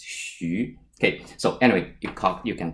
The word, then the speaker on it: Xu: It's not pronounced as, or it's not pronounced as Xu. The correct way to pronounce this is Xu.